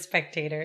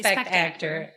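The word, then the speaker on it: spect-actor: So you don't even pronounce it spectator. No, I say spect actor.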